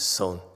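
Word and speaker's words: 선: Chan is pronounced as son in Korea.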